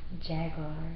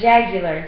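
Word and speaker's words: jugular: first pulse from her jaguar. What's up, Jack? Jaguar? No, jagular.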